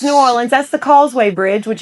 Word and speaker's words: New Orleans: Nobody from New Orleans says N'awlins. No, they don't. That's silly. Yeah, it's New Orleans.